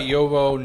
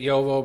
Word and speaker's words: JoWo: I just say it Jowo because like it's German and that's how you would closely pronounce the J and the V.